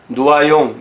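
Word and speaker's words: Noyon: 쪽인 누아 용에서 탄생했다 요즘은 근호 용이라고 안하고 또 이제 누아 용 이게 이제 프랑스 발음 이랍니다 그래서 파리에서 국소 쪽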